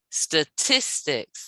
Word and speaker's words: statistics: statistics statistics statistics how many syllables does that word have three or four three yes now so it's a three syllable word where is the stress against the bone statistics yeah statistics that's right yes okay let's try